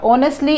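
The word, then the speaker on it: honestly: एक एडवर्ब हो गया ऑनेस्टली हा इसमें साइलेंट होता है और नेक्स्ट हम इसको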